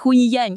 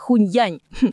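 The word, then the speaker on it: Hunyuan: Hu hu qui ? Pas huynyan, mais hunyan.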